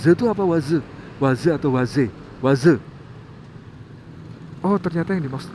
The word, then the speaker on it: Waze: bisa pakai W By the way ada orang bacanya Waze saya dulu bingung Loh kenapa sih waz itu apa waz Waze atau Waze Waze Oh ternyata yang dimaksud adalah waz waz